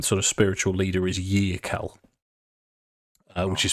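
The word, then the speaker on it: Yearkal: leader their um sort of spiritual leader is yel which is spelled ye e a r k a l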